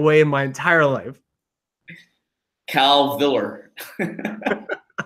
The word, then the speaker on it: Calvillo: I have never heard you pronounce it that way in my entire life. Calviller. It's Calvillo.